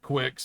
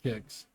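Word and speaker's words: Qix: this is my favorite version of kicks which I've always pronounced Quicks but I guess it's kicks uh really good with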